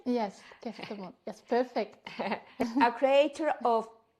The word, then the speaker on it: Kestemont: Let me know, is okay the pronunciation? Yes, Kestemont.